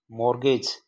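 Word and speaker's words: mortgage: मोर्गेज मोरगेज का मतलब होता है बंधक या गिरवी यह टी साइलेंट रहता है इसमें मोर्गेज में तो मोरगेज मतलब बंधक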